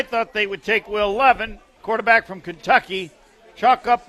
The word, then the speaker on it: Levis: I think I said Levin. I'm wrong. Levis, You've said Levin multiple times. But you didn't just say, that's not his name, I was Homer. trying to softly correct you there with pronouncing it correctly.